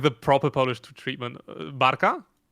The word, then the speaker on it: Barka: to Rot and we listened to uh Bara. Oh, you're getting like the proper Polish treatment. Barka.